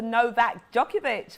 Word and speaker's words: Novak Djokovic: thank you james and a massive congratulations to novak djokovic for uh winning the wimbledon championship are you laughing at the way i pronounced that ty no no no no no